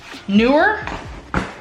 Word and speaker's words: Neewer: to buy this brain it is newer it's how you pronounce it so it comes